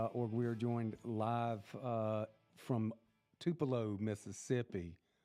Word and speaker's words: Tupelo: We are joined live from Tupelo, Mississippi. You got to say it like that. Tupelo? Tupelo, Mississippi.